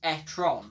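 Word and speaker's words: e-tron: is the correct way of pronouncing it it's pronounced etron because anyway away from the pronunciation in the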